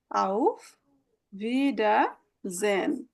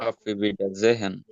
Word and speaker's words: Auf Wiedersehen: এখন আবার দেখা হবে অফিসিয়ালি যদি আমরা বলি, হ্যাঁ অফিসিয়াল মানে কলিগদের সাথে কথাবার্তা বললে আউফ ভিডাজেন, শব্দটা একটু বড়। এখন Auf Wiedersehen. আউফ ভিডাজেন, মাঝখানে Auf থাকবে, Wiedersehen.